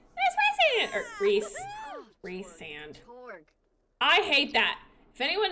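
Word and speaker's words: Rhysand: series calling this man Rand it wasn't until after all of that that I learned you pronounce his name Reese sand and I hate it rise sand sounds so much hotter Ry sand reand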